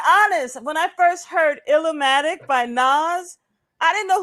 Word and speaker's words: Illmatic: Listen, first of all, it's not Illmatic.